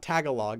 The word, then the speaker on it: Tagalog: you say it right it's not Tagalog it's Tagalog right goes D says I